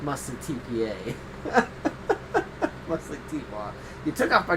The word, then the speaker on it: TPAW: You're like, I don't know if they're saying T-Paw just because, Paul, P-A, or because they know it's T-P-A.